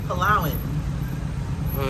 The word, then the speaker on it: Palawan: So check him out on YouTube because he's got some really nice videos showcasing Palawan, and I was saying it Palawan, so it's Palawan.